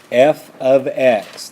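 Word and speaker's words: f(x): examples here is what a function looks like f of X this is pronounced f of x = 2x + 5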